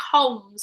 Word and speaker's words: Holmes: Yeah, it's a silent L. So it's not Holmes. It's Holmes.